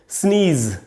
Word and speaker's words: sneeze: इसकी स्पेलिंग हमको देखनी है, SNEEZE, स्नीज का ज है दोस्तों, जेड है एंड में, तो ज जो हार्ड साउंड होता है ज, वो हमको बोलना चाहिए, स्नीज। तो स्नीज नाउन भी है और वर्ब भी है।